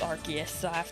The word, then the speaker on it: Arceus: They just confirmed that it's Arceus, so everybody has to pronounce it like that from now on.